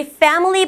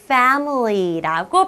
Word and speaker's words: family: 우리 family 발음할 때는요, F로 시작하기 때문에 이렇게 윗니로 아랫입술을 물고 family라고 발음해야 돼요.